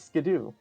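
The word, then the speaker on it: Skiddo: of of pronouncing them I will never pronounce skiddle the way they want me to I won't do it isn't that the way they pronounce it no I thought it was skidoo it is Skidoo I'm not saying Skidoo oh I I couldn't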